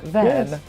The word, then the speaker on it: WAN: then it's all good now I can pronounce it right van yes Van van yes yeah because because also like in Swedish uh van is a friend yes and uh the friendly van and I I definitely